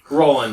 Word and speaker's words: Roland: You said, what was, how do you say, Roland? Roland, yeah. Okay.